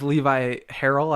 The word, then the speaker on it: Levi Harrell: So I'm here with Levi Harrell, I believe is how you pronounce it. Correct.